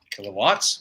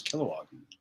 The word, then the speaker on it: Kilowog: which is pretty dope kilowatts is that how you say it that was kilowog kilowatts sorry guys my